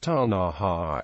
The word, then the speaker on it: Ktunaxa: themselves it is pronounced Taha with a barely perceptible k sound at the beginning of the word British and American traders